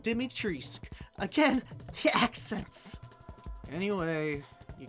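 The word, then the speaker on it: Dimitrescu: romanian she's probably romanian but the pronunciation dometress is the french pronunciation if she's romanian it should be pronounced dimitrisk again the accents anyway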